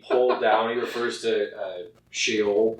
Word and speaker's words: Sheol: He refers to Sheol, right? How do you say it? Sheol.